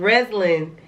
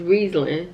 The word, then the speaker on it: Riesling: saying rattling you know I said rezulin right is Riesling Riesling Riesling whatever I